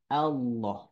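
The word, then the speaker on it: الله: masuknya kepada mustahak huruf jadi bunyil la hanya bisa dibaca tebal pada lafaz Allah gitu ya Bapak Ibu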